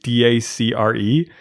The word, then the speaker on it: Dacre: His name I can't even know how to pronounce it. It's like Dacre. Oh, like Dacre.